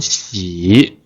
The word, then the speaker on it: 洗: 洗 and this one 洗 the original pronunciation is the third tone 洗 like 走 and 跑 and 想 they are the same 洗 and when it